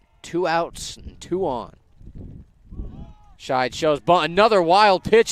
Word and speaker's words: Scheid: It'll bring up Kyson Scheid. Was pronouncing it Sheed earlier.